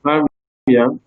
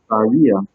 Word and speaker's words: barrier: Now, I'm saying barrier, I'm not saying barrier, okay? Because the stress was on the first syllable and not in the second.